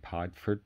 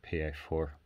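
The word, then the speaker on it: piedfort: f o r t it's pronounced in england or the uk padfoot by most people but it is in fact the french word and it's pronounced pa4 and a pa4 is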